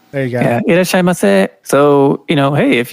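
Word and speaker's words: いらっしゃいませ: Irashimasu. There you go. yeah. Irashaimase.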